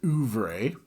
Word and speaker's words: oeuvre: Okay, pronounced oeuvre. Oeuvre? Oeuvre. Assuming that I can read my phonetic alphabet properly.